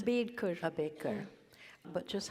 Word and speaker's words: Ambedkar: How do you pronounce Ambedkar. it? Ambedkar.